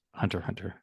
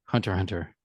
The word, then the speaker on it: Hunter x Hunter: it but it's just Hunter Hunter right the ex is silent I was corrected on